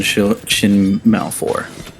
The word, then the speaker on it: Shin Malphur: Saint 14, and then Shin Malphur.